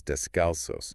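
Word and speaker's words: descalzos: We usually say discalst, right? But the Spanish word is descalos, which literally means sholess.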